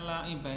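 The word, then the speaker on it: لاعبين: Ya benar juga sih kalau antum bacanya laibah ini ya enggak salah. Cuman kalau dalam kaidah ial tuh ee jadi taskin ya, jadi apa namanya? Laibin.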